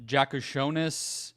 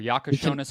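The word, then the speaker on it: Jakučionis: Jakushonis. Or Yakashonis, I think is how you say it.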